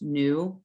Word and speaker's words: nu: cursive v shape and this is pronounced nu n-o-o um it's defined as